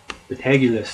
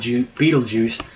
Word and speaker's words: Betelgeuse: basically but AG euless the tag euless that's how you say it the tag list not be don't beetlejuice that's Hollywood spoof booth poof poop telling